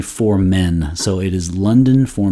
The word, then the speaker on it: for Men: for the name is it's not um right it's not poor om in french it's actually for men so it is london